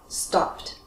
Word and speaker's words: stopped: The ending sounds like T. Right? Because all of the verbs end with that voiceless consonant sound, like p, k, s, sh, k, f, all quiet. So we end with T.